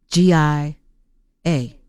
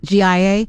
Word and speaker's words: Gia: You spell it G-I-A? G-I, Or G-I? G-I-A, Patricia. That's his Oh, wife's is that name. your Yeah, that's my circle? wife's name. G-I-A, No, Yeah.